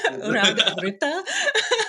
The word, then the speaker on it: Raag of Rta: And I'm going to pronounce this wrong because I cannot roll my R's. Raag of Rta. Oh, that was amazing. You got it. That was beautifully done, and I think we